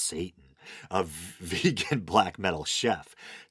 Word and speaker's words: Seitan: It's spelled Seitan. I think it's pronounced Satan.